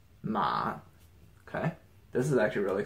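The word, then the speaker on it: 马: about this component that by itself it's pronounced MA okay this is actually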